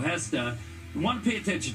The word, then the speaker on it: Gesta: of minutes mercio hesta sorry mercio I was pronouncing it guesta it's mercio hesta you want to pay